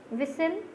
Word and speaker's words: whistle: chalk, L is silent, whistle, T is silent.